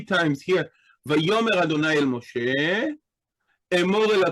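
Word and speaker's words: וַיֹּאמֶר: We know it's silent because it doesn't have any vowel pointing here. Because the aleph originally is a glottal stop, it was not as easy to pronounce it as some of the other consonants. So we can see many phonological phenomena occurring around the aleph. Here, it specifically causes the aleph to be silent.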